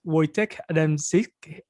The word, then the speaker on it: Wojciech Adamczyk: His name is Wojciech Adamczyk.